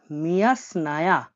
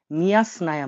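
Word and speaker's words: мясная: মিয়া স্নায়া। মিয়া স্নায়া মানে মাংস।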